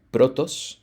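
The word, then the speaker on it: πρῶτος: Esta primera significa, o bueno, su pronunciación es algo así como protos, ¿sale?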